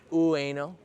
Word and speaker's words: Ueno: bloom here in Bueno ueno nobody actually says you can say it really fast it sounds like way no there's always like one